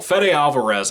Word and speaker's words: Fede Alvarez: the film it's beautiful Fede Alvarez I believe is how you say his name directed I believe wrote